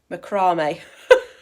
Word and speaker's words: macramé: Right, we've just asked Siri how to pronounce it, and it's macramé. So, yeah. I think it's French because I'm learning French at school, and also it's got an accent on the...